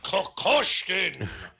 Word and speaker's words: Kokoshkin: Okay, the His name is Kokoshkin. Kokoshkin. Kokoshkin. You have to say it with enough Russian. Kokoshkin.